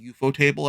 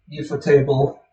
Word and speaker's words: ufotable: It's like particularly once you get to the UFO table adaptations, where UFO table's like, yes, we are big fans of Nasu and his stuff, so we're gonna They go all out.